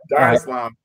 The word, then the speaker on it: Dar es Salaam: Dar es Salaam.